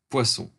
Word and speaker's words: Poisson: poisons a Poisson distribution let's pronounce it in France because it he was a Frenchman Poisson distribution okay and we